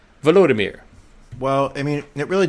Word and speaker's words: Volodymyr: Am I saying that first name right? Vladimir. It's Volodymyr. Volodymyr.